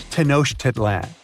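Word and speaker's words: Tenochtitlan: Can you pronounce this name of the Aztec capital city? Yes, it's quite difficult to say in English and above my pay grade. Okay. Okay. It's Tenosh Titlan.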